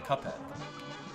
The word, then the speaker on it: Cuphead: See, Cuphead is actually a different way of pronouncing Cuphead. Because in the word Cuphead, it's C-U-P-H-E-A-D, right? So P-H sounds like an F. So if you pronounce it differently, that's where I'm getting Cuphead from.